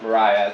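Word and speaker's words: Maria Mitchell: So that is pronounced Mariah, despite the spelling that looks like Maria.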